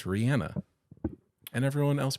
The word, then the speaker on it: Rihanna: on the Ellen show and she said it's Rihanna and everyone else pronounces it Rihanna and they're wrong so Rhiannon is the Fleetwood